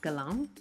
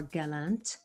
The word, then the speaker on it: Gallant: Today I am speaking with Wade Lightheart and Matt Gallant, or Gallant, Gallant, but French Canadian, so we're going to pronounce it correctly.